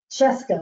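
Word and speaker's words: Scieszka: Who would ever know how to say that name if they hadn't heard him say Cheska, like Fresca.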